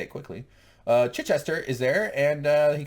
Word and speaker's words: Chichester: It's Chichester which James cannot pronounce. I don't know. He's a Say it. Chichester.